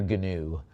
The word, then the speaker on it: gnu: I've got a $70 bid and you know it's pronounced I believe the G is silent, right?